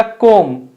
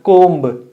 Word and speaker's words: comb: कोम्ब या कोम. You should say कोम, नॉट कोम्ब. B is silent.